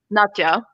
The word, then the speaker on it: Nadja: But the way I pronounce it is Nadja. Okay, I might go back to there because I dipped into Nadia for a bit, and now, Nadja.